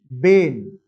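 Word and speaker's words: Bain: a guy called us Bane even though I am writing brain but R is silent that's why this circuit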